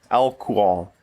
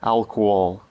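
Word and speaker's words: álcool: Because in English it has an H, which does not exist in the Portuguese version, and it's hard to pronounce. It has two Os, doesn't it? The second one has an accent... It's a little weird having those two different sounding Os without a consonant between them.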